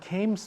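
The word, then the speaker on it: CAMTS: quick CES and arms I don't know why they pronounce it cams but because it's spelled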